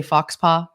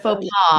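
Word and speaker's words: faux pas: we used to always say fox paaw so instead of fa paw yeah so we were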